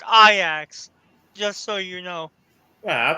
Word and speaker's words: Ajax: And oh, by the way, that club he used to manage, it's pronounced Ajax, just so you know. Wow, I thought is it spelled AJAX? Yes, it's pronounced. Yes, it's spelled like Ajax, but it's pronounced Ajax.